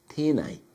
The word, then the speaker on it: tēnei: from those particular areas, they would pronounce this as penei, Penei. However, every other region around, or most regions around the country, if they were talking about the word this, they would say tēnei.